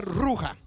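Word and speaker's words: רוח: Quiere decir que este viento eh viento, la palabra viento en en hebreo arameo se pronuncia ruja, que significa espíritus.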